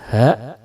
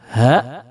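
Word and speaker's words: ح: yang kedua adalah huruf ha, yang kalau kita harokati ha. Huruf hamzah dan huruf ha ini membacanya harus keluar dari tenggorokan bagian bawah.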